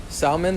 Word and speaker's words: salmon: Salmon, the L is silent.